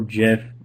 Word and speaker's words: GIF: in things like an animated gif or Jif however you want to pronounce it it doesn't matter to me if I click that